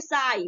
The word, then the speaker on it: sigh: अब इसको सिंग नहीं पढ़ेंगे, ठीक है, सिंग नहीं प्रोनाउंसिएशन कर देंगे, इसको हम क्या बोलेंगे, साई। नेक्स्ट देखते हैं आपका FIGST, फाई, ठीक है।